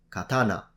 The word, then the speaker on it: katana: Now, for those of you who are interested in Japanese, these are pronounced yari, katana, and samurai, If you want to know more about this, you'll find a link in the description.